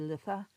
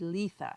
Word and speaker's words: Litha: So I found an Irish speaker who said litha and a Wiccan who said letha, and she kind of was like, this is how you pronounce it.